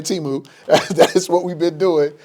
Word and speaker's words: Temu: Oh, yeah, everybody finding out that they've been pronouncing Temu wrong.